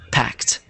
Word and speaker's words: packed: um packed pack perfect so it's spelled like this but think of it without the e packed packed no there you